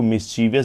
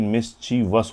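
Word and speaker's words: mischievous: मिसचीवियस करा था मिसची उसको मिसचीवियस बोलते हैं लेकिन मिसचीवस होता है वो ठीक है मिसचीवस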